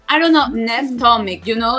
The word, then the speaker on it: Nevena: Nevena, yeah, and so many people say Nev because it's easier. Nev. So I'll respond to whatever one you say.